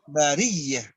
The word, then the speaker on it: البرية: Ditekan khairul bariyah. Saya ulang Pak Ustaz ya. Ya. إن الذين آمنوا وعملوا الصالحات أولئك هم خير البرية. Ditekan bariyah. Ya, itu tasdid. Ditekan bariyah. Oh iya Pak Ustaz ya.